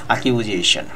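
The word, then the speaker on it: accusation: এখানে ভিউয়ার্স দেখতে পাচ্ছি অ্যাকিউজেশন, এই শব্দের উচ্চারণটা হচ্ছে অ্যাকিউজেশন। অ্যাকিউজেশন বলবেন না, বলবেন অ্যাকিউজেশন, বর্গীয় জ দিয়ে বলতে হবে।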